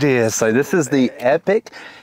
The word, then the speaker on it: Epoch: So, this is the Epoch. It's spelled E P O C H, but I think it's pronounced epic.